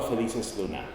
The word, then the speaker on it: Felices-Luna: Felices-Luna.